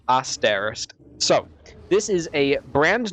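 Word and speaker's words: Aaesterist: It's spelled A A E S T E R I S T, but it's you say it as Asterist.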